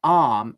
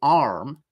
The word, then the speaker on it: arm: of the syllable, ram, but in arm and ma, there is no sound. Okay, and that's a typical British way. An American would do it differently. An American would say arm and mar, like that, with an sound.